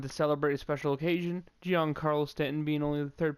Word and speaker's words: Giancarlo: gonna have to keep Giancarlo Stanton. I was trying to think about how to pronounce his first name for a second. I almost said John Carlo, like John, but that's just not right.